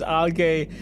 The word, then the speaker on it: algae: my brain all right it's pronounced as Alay so I should this should help me remember if I see this uh alga I should think like happy and gay alga yeah